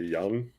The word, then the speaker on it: Yang: Pronunciation for Yang is closer to Young. Young Hansen.